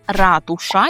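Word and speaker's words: ratusz: Наше наступне слово - це ратуша, яка в українській мові, так, це слово, це вона, ратуша. У польській мові це он, ратуш, ратуш.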